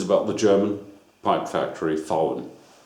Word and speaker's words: VAUEN: It is pronounced VAUEN with a V without a voice, like an F. You should pronounce it like FOUEN, VAUEN.